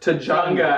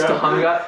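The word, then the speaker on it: Tujunga: yes and it's pronounced I think Judy calls it Tanga and he's like it's pronounced T it's Tunga and the funny thing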